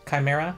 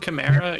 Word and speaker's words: Chimera: you pronounce it sha Chimera Chimera yeah it's a C Sound sure Chimera a hard SE she talk she describes